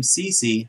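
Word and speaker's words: Ceci: one for the senators cody ceche cece now you guys told me you say his name cece pretty nice piece of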